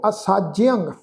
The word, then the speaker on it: असाज्यंग: इत्थे साध संगत ख्याल रखो असाज्यंग ऐड़ा सस्से नूं कन्ना जज्जे नूं सिहारी फिर ऐड़ा अखर उहदे उत्ते टिप्पी दी मात्रा दा नासक उच्चारण करांगे क्योंकि जज्जे दे पैर विच अद्धा यईया लगा होया है।